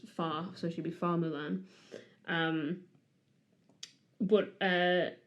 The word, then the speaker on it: Mulan: her name okay um so it should be pronounced H I think but in cantones pron far so should be far Mulan um but uh h means flower and ping